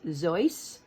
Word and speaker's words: Seuss: And actually it's a German name, so it would be Dr. Seuss, like rhyming with voice, Seuss. But we know him as Dr. Seuss.